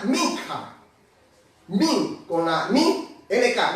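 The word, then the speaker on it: מנחה: hebreo, una palabra un poco bastante difícil de pronunciarla, pero es min con la K, minja.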